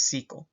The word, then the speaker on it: SQL: Now, for relational databases, the standard is SQL, or people sometimes also pronounce it as SQL.